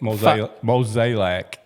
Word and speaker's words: Mozeliak: So is John Mozeliak? Mozeliak. Is John Mozeliak? Mozeliak. Yeah. Break it down just like that. 3 syllables.